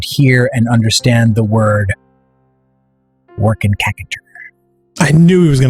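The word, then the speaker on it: W'rkncacnter: The old Macintalk that was around when Marathon 2 first came out pronounced it Workin' Cackator, which is why I stand by that. That is the canonical pronunciation. It is not work center, no matter what people elsewhere will tell you.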